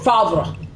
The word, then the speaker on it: Favre: It's Favre. Anyway, pronouncing bosom correctly.